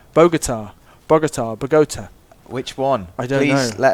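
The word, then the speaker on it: Bogotá: Don't Americans say Bogota, which is why I say it with that stress. But Bogota. but Bogota makes more sense to me.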